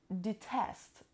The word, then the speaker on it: detest: the second word is the test the test it has two syllables and the stresses on the second stubble I don't know gonna